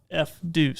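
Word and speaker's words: FDUCE: I looked it up, and that's how it's pronounced, is F-Deuce.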